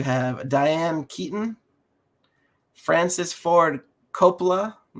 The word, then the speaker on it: Coppola: You have Diane Keaton, Francis Ford Coppola.